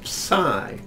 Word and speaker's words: psi: It's a P and an S together.